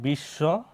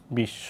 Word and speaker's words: বিশ্ব: থাকবে বা যুক্ত থাকবে, ওই ব্যঞ্জন বর্ণটাই হবে কি দুইবার। যেমন হয়েছে কি এই যে বিশ্ব, আবার কি যেহেতু বর্ষাতে উচ্চারণ হয়েছে, আবার হয়েছে কি বিশ্ব।